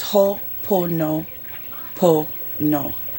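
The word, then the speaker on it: Hoʻoponopono: able to research this it's pronounced ho poo po no spelled h o o p o n o p o n o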